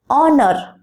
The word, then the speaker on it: honor: There are some words in English language which begins with a silent H. For example, honest, honor. In these words, H is silent and instead of that, O sound is pronounced.